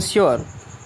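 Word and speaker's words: sure: उसका यू आ या ओ होता है, जैसे श्योर, ठीक है। अब देखिए श्योर में क्या है, लास्ट में ही यू आर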